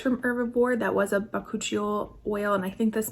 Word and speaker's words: bakuchiol: Bakuchiol, that's what it is.